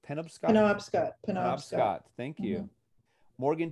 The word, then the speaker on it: Penobscot: Am I pronouncing that correctly? Penobscot? Penobscot.